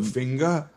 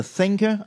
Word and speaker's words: thinker: The finger? Oh, finger. The finger. You mean the thinker, I think. Yeah. The finger. The finger. So the finger. If you pronounce it wrong, it's the finger.